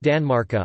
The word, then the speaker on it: tanmarkar: Danmark on the large stone, and genitive Tanmarkar, pronounced Danmarka on the small stone.